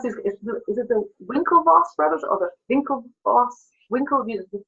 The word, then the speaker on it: Winklevoss: Is it the Winklevoss brothers or the Winklevoss? The first W or the V? First one is W. So it's pronounced with a W, not a Winklevoss.